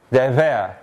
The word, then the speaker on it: deber: If you're a Spanish speaker, it's the way you probably pronounce the sound that comes in the middle of this word. Deber, ve, ve, ve. It's just like fa, but it's voiced.